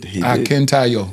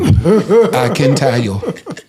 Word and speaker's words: Akintayo: Akintayo. Yes. Absolutely. He said, he told me, he tried to teach me to say it like I'm singing. Akintayo.